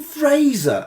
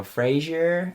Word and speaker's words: Fraser: fussed as well like every time every time i go to america as well they'll go frasier like all the kids would